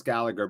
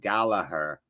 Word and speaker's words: Gallagher: plays for often sc his last name is gallagher but it's pronounced gala her is that the correct pronunciation last good question before